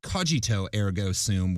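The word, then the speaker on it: cogito ergo sum: least one well-read woman thought he was merely mispronouncing the popular phrase kojito Ergo soon which is Latin for I think therefore I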